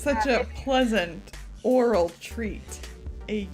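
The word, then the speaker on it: aural: i could have said owl roll but that's not how you say it no no it's pronounced oral the same way as oral it's very confusing but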